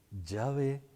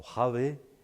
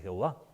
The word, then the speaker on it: Yahvé: no sabe leer hebreo, porque Yahvé o Javé, con las vocales que corresponden a mi Señor, es una lectura equivocada, pero dice Jehová.